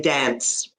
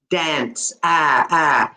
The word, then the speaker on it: dance: How I would say it, being this is okay, not just me as a Canadian, but as a Canadian or an American, we would say dance. Dance.